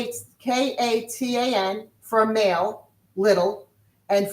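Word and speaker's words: קטן: For a male to be little, a a little boy like a little is katan.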